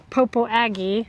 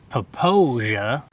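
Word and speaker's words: Popo Agie: This river that flows beside us is called the, It's- I would say Popo Aggie. Yeah, it's spelled that way. I think the correct pronunciation might be Poposia.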